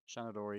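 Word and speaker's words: Seanadóirí: that pronunciation there is perfect. So does that mean it's a Shanadori? Shanadori, Yeah.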